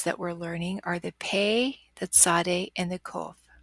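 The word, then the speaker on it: פ: to the spelling rules when it takes the dogesh it has a stopped hard sound like pie when it loses its digest it has that soft fricative sound with error that says F like phone and pay is one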